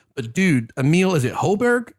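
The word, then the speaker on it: Højbjerg: But dude, Emil, is it Hoiberg? How you pronounce his name? Emil Hoiberg. Hoiberg. You're right, Ron. Hoiberg.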